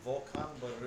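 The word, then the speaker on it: Volcán Barú: Volcan Baru.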